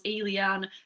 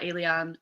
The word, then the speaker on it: Ayliean: So if that is the case, it's 3 syllables, Ayliean, very similar to the word alien, but Ayliean, the last name, nice and easy, just.